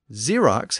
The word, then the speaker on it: Xerox: a traditional X sound and Xerox has two x's the one at the end gets the traditional X pronunciation but the one at the beginning is shifted to a z sound the X actually originated